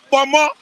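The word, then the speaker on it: ponmo: The name is pronounced Pomo. P-O-M-O in Yoruba language.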